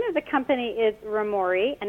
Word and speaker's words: Roamori: Yep, so the name of the company is Romori, and it's spelled Roamori, and it's a combination of two different ideas.